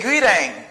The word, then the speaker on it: greeting: as meeting or meeting why do I pronounce the letter T as a fez they pronounce it as a fancy because the letter T is in the middle of two vowel sounds here I say greeting